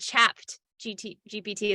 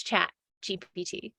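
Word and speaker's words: ChatGPT: right no I said chapped GT GPT it's not chapped not like chapped lips it's chat gppt for all those of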